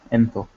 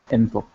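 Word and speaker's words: ⲛ̀ⲑⲟⲕ: going to have jinkim, ne, theta, o, kappa, enthok, enthok. And that means you for masculine. You for feminine, or for female, is jinkim, ne, theta, and o, entho, entho. So the difference is enthok and entho.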